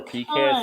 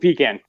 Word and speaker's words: pecan: where you're at summer pecans summer pecan here in the states in Canada we call it pecan yeah it depends where you're at here pecan or pecan depends different spots so I said I